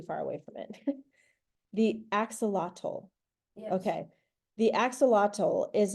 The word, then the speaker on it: axolotl: And I don't even know how to pronounce the word. How do you say it in English? In English. Axolotl.